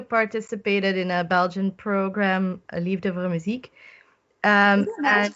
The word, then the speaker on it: Liefde voor Muziek: In 2018, you participated in a Belgian program, Liefde voor Muziek. Nice pronounced.